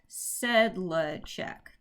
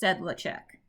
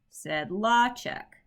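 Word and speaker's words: Sedlacek: name is not pronounced sedlachek his he his family pronounces their last name said law check so that that's one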